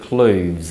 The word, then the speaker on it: clothes: the south of England this pronunciation is a homophone of the word cloves so make sure you